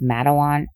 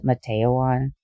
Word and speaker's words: Matawan: the criminally insane note I have heard this pronounced madawan and mateoan for some reason I'm believing madawan so I'm going with that the next day George